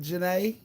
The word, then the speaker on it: Janae: you liked it okay it's pronounced like janae nay y'all welcome nate to